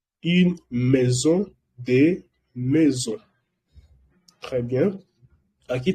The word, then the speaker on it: maison: Une maison, que es una casa, de maison. No se pronuncia un maison, porque decía que AI se pronuncia E en francés.